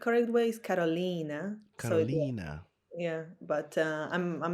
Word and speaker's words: Karolina: It's correct, Carolina. So there are no special signs or special things that it's not. Allez, I want to respect your name, The correct way is Carolina.